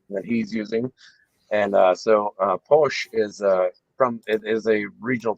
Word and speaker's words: Pox: POX. Yeah, Posh. Siglo Cero. It's not Pox.